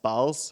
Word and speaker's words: BAL: As Drew already said, it's pronounced BALS and not the other way.